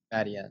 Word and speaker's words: Madeon: of you guys with Madeon or Madeon. Am I pronouncing that right? Madeon, yeah. Madeon of you guys and like Madeon, what, like 2015 or something like that.